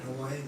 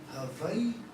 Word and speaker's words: Hawaii: are being changed constantly because we're adding the okina. So you may have heard Daniel and myself say, Hawaii. So Hawaii. A lot of people say Hawaii. But what's more, Hawaii. Hawaii. Because there's an okina that separates the two Hawaiians.